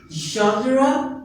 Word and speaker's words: genre: It is genre. You can pronounce it in both ways. Genre and genre, which means kind of, sort of, किस किस्म का, okay?